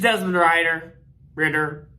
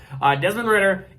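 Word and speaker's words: Desmond Ridder: It is Desmond Ritter. I keep saying Ryder. Why do I keep saying Ryder? Desmond Ritter.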